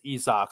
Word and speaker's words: Isak: I think, like I said, I think, hey, I thought Isaac was Isaac, but it's Isak.